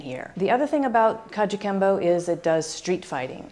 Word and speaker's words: Kajukenbo: style called Kajukenbo and that's a made-up word made up of syllables that represent the five styles that the art is so it's an eclectic art made up of karate judo and jujitsu Chinese Kempo and what's called Chinese boxing which really represents coelom pi kung fu so Kajukenbo the four syllables represent those arts and what's different about